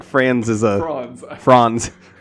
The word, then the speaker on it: Franz: like franz is uh franz is that how it would be pronounced in german i suppose that's correct friends friends franz he hit franz with